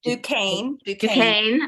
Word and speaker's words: Duquesne: She's taught literary theory and analysis at, okay, I'm not going to pronounce this properly correctly, Jolene? Duquesne.